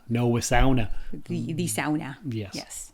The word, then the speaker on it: sauna: if you're from Finland that's how you'd say that's exactly how you say it as my good buddy Andrew would always point out and remind me of but yeah I'm like Oh you mean a sauna no AA the the